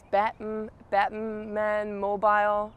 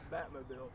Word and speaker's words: Batmobile: And with his Batman mobile. No. Oh no, how do you say that? Batman mobile? His Batmobile.